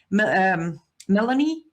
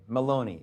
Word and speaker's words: Meloni: Melanie? No, Melanie, the Prime Minister. Melania. Georgia Meloni, the Italian Prime Minister. Meloni, yeah.